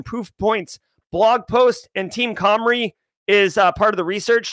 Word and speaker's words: Cymru: CYMRU is pronounced Comrie.